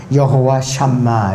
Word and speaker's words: 여호와 삼마: 성전이 성전에 좌정하고 계신다 이것이 히브리어로는 여호와 삼마 이렇게 발음을 합니다이 예언대로 이루기 때문에 모든